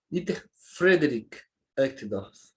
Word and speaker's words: Dieter Friedrich Uchtdorf: Dieter Friedrich Uchtdorf, né? Para a gente falar corretamente com a pronúncia do alemão, como ele mesmo, ouvindo como ele fala, a gente vê como é o certo.